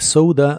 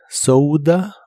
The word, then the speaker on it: soda: Y la o de soda se pronuncia como ou. La D de soda la puedes pronunciar como d, soda o como soda.